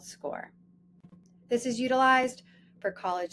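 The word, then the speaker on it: Scoir: It is pronounced score like you score a goal. Although many of you likely say something like squire and your child may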